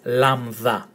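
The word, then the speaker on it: λάμδα: So it's lama, that, you take away the A and the T, lambda. And when you see it in a Greek word, it's pronounced L, as in leap, lad, and lalana.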